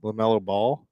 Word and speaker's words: LaMelo Ball: LaMelo Ball.